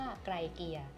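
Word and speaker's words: Graecia: นี้ เลย นะ คะ อ่าน ว่า ไร เกีย ค่ะ ซึ่ง ชาว โรมัน เนี่ย เขา เชื่อ กัน ว่า ดิน แดน ตรง นี้ นะ คะ แล้ว ก็ ผู้ คน ตรง นี้ เนี่ย เรียก ว่า ไกร เกีย ไกร เกีย ก็ เลย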